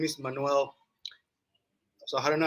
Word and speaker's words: Manuel: uh my name is manuel so i don't know how i don't know how you say it in english but in spanish we say manuel you can say manual right yes that's right